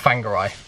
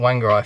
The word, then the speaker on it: Whangarei: Kauri Tree Park, yeah, in Whangarei, which is spelled W-H, not F at the start. We were calling it Whangarei for a long time, and then I looked in the book, and W-H, anything W-H in New Zealand at the start is not W.